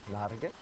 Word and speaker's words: Norge: Oh, Norge.